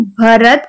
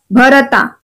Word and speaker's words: भरत: Okay, Gujarat में ज्यादातर pronunciation कैसे किया जाता है? रामा, लक्ष्मणा, भरता. ओके, लेकिन हम कैसे प्रोनाउंस करते हैं इसको? Ram, Lakshman, भरत. So both pronunciation are correct, so don't get confused.